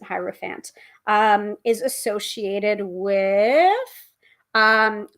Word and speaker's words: hierophant: here's the hierophant um or hetero fans um so hero fans or hierophant I pronounce it hierophant um is associated with